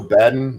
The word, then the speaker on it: Baden: Yeah, Michael Baden.